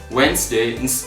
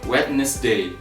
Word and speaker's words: Wednesday: middle next is Wednesday so this word only has two syllables vs wins and second is days so we pronounce it Wednesdays instead of wetness day it's just Wednesday for